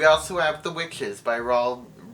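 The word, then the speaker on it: Roald Dahl: have the witches by raul oh i said it right that time i did not say ronald rawl doll roll doll raw bell roll dog this book creeped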